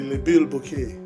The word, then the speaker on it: Le Bilboquet: Did I pronounce it right? Le Bilboquet? Yeah, they say Le Bilboquet.